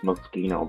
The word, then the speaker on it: Moschino: It's Moschino, by the way.